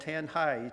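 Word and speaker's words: Tanjay: We are located in central Philippines, the island of Negros in a town called Tanhai. T- jaw y is pronounced tanhai.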